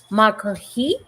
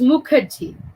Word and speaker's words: Mukherjee: have a beautiful and amazing guest dr makahi am i pronouncing it correctly uh it is mukherjee yes okay thank you thank you for and